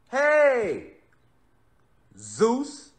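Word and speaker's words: Jesús: do you say zeus jesus rather you say hey zeus now who created the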